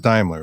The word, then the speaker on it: Daimler: moon um authors dahmler am i i'm pronouncing your name correctly daimler yeah daimler was more okay i'm sorry that was our pre-show talk kristen and i said timely um everyone mispronounces it so it's fine that's